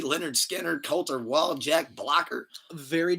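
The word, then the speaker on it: Lynyrd Skynyrd: Pronounced Leonard Skinner, number 3.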